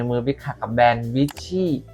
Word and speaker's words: Veecci: บิ๊ก ขัก กับ แบรนด์ vy น่า จะ อ่าน ว่า vy นะ คือ v e e c c i นะ น้อง คน นี้